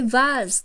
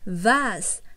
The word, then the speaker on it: vase: Tuy nhiên với cái vase thì cô Bella có lưu ý một chút xíu là vì chúng ta đang học theo chương trình tiếng Anh giọng Anh nên là các con sẽ đọc là vase.